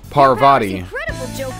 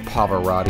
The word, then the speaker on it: Parvati: Parvati. Parvati, not Pavarotti.